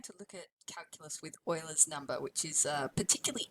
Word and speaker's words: Euler: now we're going to look at calculus with euler's number which is uh particularly interesting it has a particularly interesting property which is kind of cool so we'll investigate that and that remembering that it is pronounced euler not euler even though it does look like